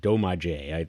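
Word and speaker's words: Domaje: And the the band name itself is called Doma J. I that's how pronounced D O M A J E.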